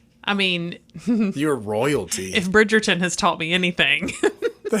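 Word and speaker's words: Bridgerton: Bridgetgerton. Am I saying it right? Yes. Bridgetgerton.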